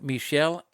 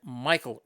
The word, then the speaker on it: Michel: Actually, I've heard it pronounced both Michel and Michael Rivera. I go with the Michael.